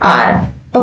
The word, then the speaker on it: our: इसे आप आवर नहीं बोलोगे, इसका प्रोनाउंसिएशन है आर।